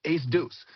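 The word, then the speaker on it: A²: guess before and uh it is written a squared if you're from Ann Arbor, but if you're a real native, it is pronounced Ace Deuce.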